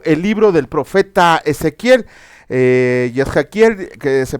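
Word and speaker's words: Yechezkel: Hoy vamos a comenzar con un nuevo libro, el libro del profeta Ezequiel, Yezhaquiel, que se pronuncia en hebreo.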